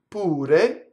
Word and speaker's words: pure: The word tu is a monosyllable that is strong. So what happens with the strong monosyllable causes the next word, if it starts with a consonant, to double. So we would say tu pure.